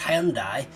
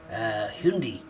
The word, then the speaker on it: Hyundai: advert the other day saying it's not pronounced Hyundai it's pronounced Hindi yes um I don't know what's wrong anymore um as far as I'm concerned it's Hyundai and it's staying Hyundai thank you very much